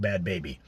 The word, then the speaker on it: Bhad Bhabie: to look it up bad baby as bhed and baby BH a bie pronounced bad baby alright coming out hard